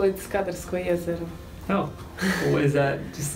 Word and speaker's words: Skadarsko jezero: Skadar, but we actually call it Skadarsko jezero.